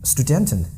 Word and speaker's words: Student: a buzzing yeah yes because St is yeah it's always sh it's like it's impossible to do busing in this case right student it's difficult so student student that's the specific rule that as St at the beginning of a syllable or